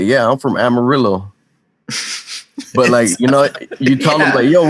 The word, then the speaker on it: amarillo: I hate Mexicans in Texas that say, "Yeah, I'm from Amarillo," but you tell them "Yo, what color is this crayon in Spanish?" Amarillo. Like what? Nah, it's Amarillo. Yeah, Amarillo, dog.